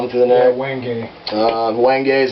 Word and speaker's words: wenge: Wenge. Wenge is how you pronounce that.